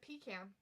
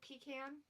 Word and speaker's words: pecan: No, there are people that pronounce it pecan. Like Toucan Sam? It's usually people up in like northeastern area of the United States. There's a lot of people up there. Pronounce it that way, pecan.